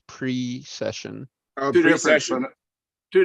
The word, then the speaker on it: precession: Yeah, it's Colors, not pro-session, it's pre-session.